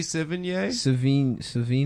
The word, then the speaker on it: Sevigny: Chloe Sevigny. Savini? Yeah. How do you say it? Chloe Savini. No, Yeah, it's No, it's not. I said it right the first time.